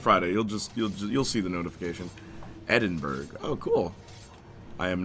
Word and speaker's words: Edinburgh: Edinburgh is how it's pronounced, by the way.